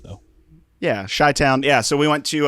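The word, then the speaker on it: Chi-Town: did and went to what's is it called kai town is that like the shy town oh c-h-i i didn't know if you actually pronounced h though yeah shy town yeah so we went to uh just got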